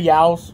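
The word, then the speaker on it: Yeo's: I'm going to say Yao's. That's how the guy pronounced it.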